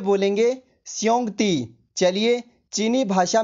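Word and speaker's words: xiongdi: इसको चाइनीज में बोलेंगे श्योंगती।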